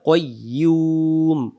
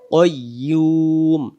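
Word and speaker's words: القيوم: এই পেশটাকে বাদ দিয়ে এখানে একটা সাকিন ধরবো উচ্চারণ করবো কইয়ুম কইয়ুম ইউমু জিহ্বার মাঝখান থেকে হবে কাইয়ুম কাইয়ুম আল হাইউল কাইয়ুম আল্লাহু লা ইলাহা ইল্লাহ হুয়া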